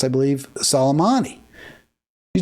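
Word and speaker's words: Soleimani: Irani General solomani casm uh is how it's pronounced I believe salomani he said it was like a war it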